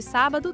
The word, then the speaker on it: sábado: Alguns dias tem acento gráfico e isso muda o ritmo da palavra. Por exemplo, miércoles e sábado tem acento agudo. As sílabas tônicas são mier e sá.